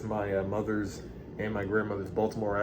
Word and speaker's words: Baltimore: So throughout this clip, I'm going to be saying Baltimore, because that's literally how Black Baltimoreans pronounce it. Baltimore accent challenge. Here we go. Baltimore. Baltimore people say Baltimore. Yeah. White Baltimoreans say Baltimore. Baltimore. B-A-L-M-E-R. So, hey.